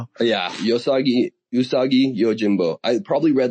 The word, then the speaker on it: Usagi: phase where I probably read like every yos yosagi yojimbo yohimbo yojimbo. I Yeah, I think I heard him pronounced Yojimbo, but you know, what do I know? Yeah, Yosagi. Usagi.